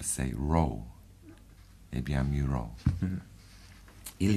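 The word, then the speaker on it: Mureau: Oui, ça s'appelle Muro. C'est le premier syllabe de le mot musique, même en français. Et le dernier syllabe, le deuxième syllabe du nom Thoreau. Quelquefois on dit en anglais Thoreau.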